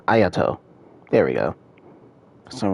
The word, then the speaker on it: Ayato: now it's Soo and ayato why do I say it like that aat it's aato there we go for